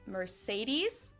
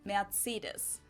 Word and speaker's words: Mercedes: So most Americans call this Mercedes. In German, we pronounce it Mercedes.